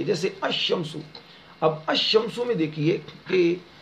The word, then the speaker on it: الشمس: حرف شمسی ہو تو الف لام کے لام کو حرف شمسی میں مدغم کر کے پڑھیں گے، یعنی ملا کر پڑھیں گے، یعنی لام کا تلفظ نہیں کریں گے. جیسے الشمس.